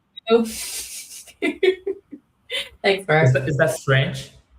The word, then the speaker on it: Roux: Oh, that's Roux, very like important. Roux.